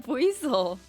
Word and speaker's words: Buizel: As long as I get to hear you say Buizel, I'm good. What's wrong with me saying Buizel?